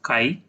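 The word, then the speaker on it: χ: Now mole fraction is denoted by this letter, which looks like X, but it is pronounced as chi.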